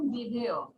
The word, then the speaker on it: বিধেয়: উদ্দেশ্য এবং বিধেয়, উচ্চারণটা হবে আমাদের বিধেয়।